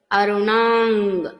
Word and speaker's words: అరుణాం: ఇక ఉచ్చారణల్లో మనకి వ్యాకరణ నియమాల దగ్గరకు వచ్చినట్లయితే గనక అరుణాం, ఇక్కడ అనుస్వార ఉచ్చారణ తర్వాత పదం కరుణ అని ఉంది కాబట్టి కఖ గఘంగ అరుణాంగ్ చదువుతున్నాం.